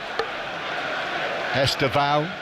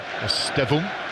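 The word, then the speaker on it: Estêvão: Pedro Neto playing on the left-hand side with Estevao over on the right-hand side. Estevum, as he called himself on the official pronunciation video, but I think Estevao has become more the accepted way of saying his name.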